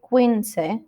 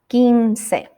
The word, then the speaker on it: quince: to the number 15 remember that that u after q is silent so we don't say quince we have to say ginsei so from numbers 11